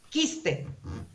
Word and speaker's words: quiste: Quiste. ¿Suena ahí la U? No suena, pero para mí es un diptongo, así me aprendí.